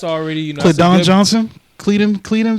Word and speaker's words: Keldon: Cleedon Johnson. That's how you say it. Keldon Johnson.